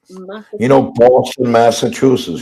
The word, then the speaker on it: Massachusetts: you're a race for my life i can't pronounce massachus chutes massachusetts you don't know how to say boston massachusetts